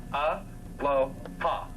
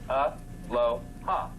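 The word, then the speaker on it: Aloha: Every 2 letters is a syllable per se, followed by a vowel, or a vowel is 1 syllable. So if you look at this, it's real simple. A-lo-ha. A-lo-ha.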